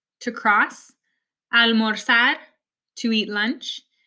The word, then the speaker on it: almorzar: I'm not saying empezar, it's empezar. It's not cruzar, it's cruzar, almorzar, organizar. It actually sounds a lot more like an S in English than a Z.